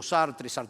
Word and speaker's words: Sartre: Había un pensador, un filósofo francés, Sartre, el nombre, todo el mundo lo pronuncia distinto, Sartre, pero bueno, creo que era Sartre, era francés.